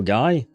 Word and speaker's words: Guy: We would pronounce it Guy in French.